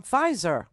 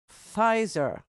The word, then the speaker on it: Pfizer: covid vaccine mm-hmm from Pfizer Pfizer PF okay the p is silent in German okay so uh there